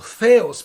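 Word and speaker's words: Θεός: La tercera letra, Theos, o Theos, porque así se pronuncia en griego, Theos, que significa Dios.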